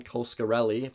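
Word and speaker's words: Coscarelli: stars bruce campbell and it's directed by don coskarelli that's how you say his name i talk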